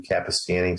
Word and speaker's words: Capestany: My name is spelled a little weird. Capestany, Capestany.